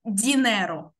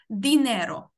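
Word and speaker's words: dinero: Тобто не буде оцього от дінеро. Буде дінеро. Тобто трошечки-трошечки твердіше вимовляємо звук Д, після якого стоїть І. Дінеро.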